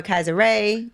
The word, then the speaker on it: Kysre: Why do you prefer Kai over Kysre, over Kysre, Gondrezick? You pronounced it right.